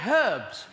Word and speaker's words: herbs: that's clearly better and we say herbs because it's a H in it yeah with a sort